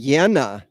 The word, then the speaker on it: Yana: It's actually Yana, is the way that, Ms. Grubbs' name is pronounced.